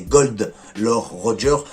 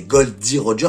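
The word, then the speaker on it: Gold D. Roger: surtout du docteur K c'est la première personne à prononcer correctement le vrai nom du roi des pirates Gold Roger par au début on pense tous que c'est gold Lord Roger donc en fait c'est Gold D Roger c'est elle qui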